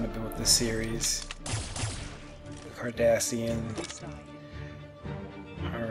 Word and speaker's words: Cardassian: even pronouncing it right it's pronounced cardassian or kardashian like kim and kourtney kardashian let me know if